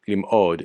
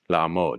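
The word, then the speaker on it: לעמוד: It's not limod, it's la'amod.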